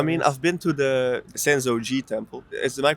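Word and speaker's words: Sensō-ji: I mean, I've been to the Senzo Gi Temple. Is my pronunciation correct?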